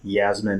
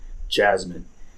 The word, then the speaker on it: Yasmine: The whole Yasmine and Robert, by the way, I've been saying her name a bit wrong because for some reason, my pronunciation, I say Yasmine and it's not like that. It's Jasmine. That's the correct way.